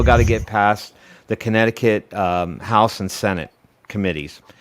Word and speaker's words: Connecticut: the flavor band in connecticut or connect ticket if you like to pronounce words exactly as they're spelled they have a house